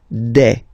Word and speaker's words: des: Okay, and then the plural form, des. All right, here, s, you pronounce it like a.